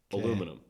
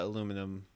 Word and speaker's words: aluminum: so it was it's originally from a brit aluminum okay and then like his buddy was like